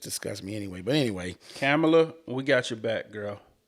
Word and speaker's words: Kamala: point is just disgust me anyway but anyway camela we got your back girl did you say her name right kamla there you go Kam we got your KLA